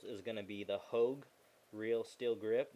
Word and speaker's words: Hogue: going to be the Hogue Real Steel Grip. That's spelled H O G U. Hog.